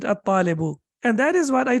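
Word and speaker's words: الطالب: We don't have tashdid over here, but you know that we have to pronounce it at-talibu.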